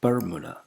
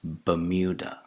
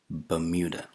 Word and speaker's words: Bermuda: Now, it's commonly pronounced as Bermuda, isn't it? Is that the correct pronunciation? No, it's Bermuda. Bermuda. The R sound is not pronounced, and the second vowel sound is not U.